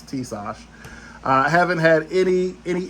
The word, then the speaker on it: Tisas: of the tsus that tases uh or tses I should say because the correct pronunciation is Tash I haven't had any